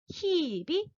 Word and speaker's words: 희비: 흐이비가 아니라 히비, 티우다. 이렇게 이 모음으로 발한다는 겁니다.